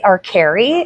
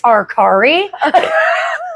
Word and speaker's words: Arcari: They'd say Arcari. And I would stand up and be like, actually, it's Arcari.